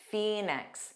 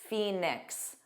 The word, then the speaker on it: Phoenix: Phoenix. So, of course, you heard that ph as an F, just like with phone. Fe Phoenix. Nyx. So, you have that ks together.